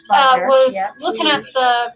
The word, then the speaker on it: Wagner: German name, It's pronounced Wagner. Wagner, Was yeah.